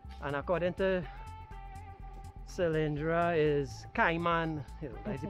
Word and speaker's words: Caiman: up some one of those Hills up the kman hill that's how it's pronounced yes K so folks we can see